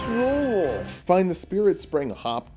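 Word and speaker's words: Rauh: Apparently, Ra'au is wrong. Gordon, how do you pronounce it? It's rule.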